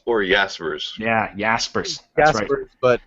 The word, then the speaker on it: Jaspers: about Jaspers I think Bugg me is it Jaspers or yaspers yeah yaspers Jers but it's one of those things that